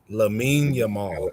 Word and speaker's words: Lamine Yamal: Lamine Yamal.